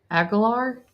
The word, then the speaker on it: Aguilar: And then offensive player was Dylan Aguilar. Is that how you say his name? Aguilar, yep.